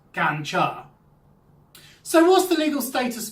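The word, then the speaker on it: กัญชา: The drug is known as ganja, and it's pronounced gancha.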